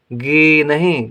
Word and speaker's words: गिनी: गा में छोटी की मात्रा गी, गी नहीं गी। ना में बड़ी की मात्रा नी, गिनी पढ़ेंगे, गिनी नहीं पढ़ेंगे, गिनी पढ़ेंगे, गिनी, क्योंकि छोटी की मात्रा का उच्चारण कम देर के लिए गिनी।